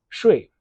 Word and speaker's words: 说: Next, at the bottom of the photo, we have the definition for this character when it's pronounced shui.